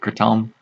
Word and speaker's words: kratom: lot of krypton here kratom the Thai people pronounce it Curtin and my intent is